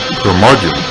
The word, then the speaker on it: curmudgeon: the curmudgeon rock report their margin rhymes with bludgeon rock gods do it